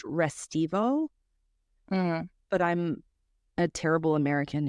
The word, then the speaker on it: Restivo: note I think that his name is actually pronounced restivo but I'm a terrible